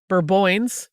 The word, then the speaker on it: Bourbonnais: The town of Bourbonnais, which is how it's spelled, is pronounced Bourboins, for real.